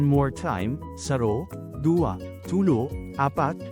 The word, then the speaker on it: apat: APAT is number 4 in Bicol. Change A to AH, then pronounce it as Apat.